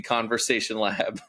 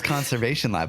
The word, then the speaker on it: Conversation Lab: that we did where I kept saying it wrong. And the one that I thought was right, the first thing I said was conversion or was I can't even do it now. Was Conservation Lab.